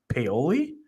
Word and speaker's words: Paoli: Maybe it'll be Paoli.